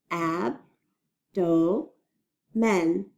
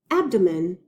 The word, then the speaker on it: abdomen: I was hungry Rosi this one has three syllables in it let's read it ab Doh men abdomen my excuse me spiders